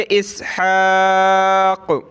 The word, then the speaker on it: इसहाक़: टूटे रुकना हो तो इस तरह रुकेंगे, इसहाक़, यानी आखिरी वर्ड को हमने साइलेंट छोड़ देना है।